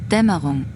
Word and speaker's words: Dämmerung: Damerang? German fake net. Fake Netz initialisieren. It is pronounced Dämmerung.